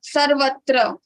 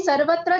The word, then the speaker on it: सर्वत्र: Okay, तो सर्वत्र में स पर आघात आएगा नहीं आएगा? सर्वत्र में वा पे आघात आएगा, वा के बाद त्र है. तो व के बाद त्र है तो व के ऊपर आएगा र में आघात आएगा, लेकिन स के ऊपर आघात नहीं आएगा क्योंकि स के बाद र है.